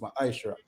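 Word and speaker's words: מעשר: Means 10th in the Hebrew and is pronounced ma'ashra.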